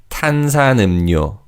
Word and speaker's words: 탄산음료: And in terms of pronunciation, as we mentioned already, the 리을 in the final syllable changes to 니은. So it's 탄산음료, 탄산음료.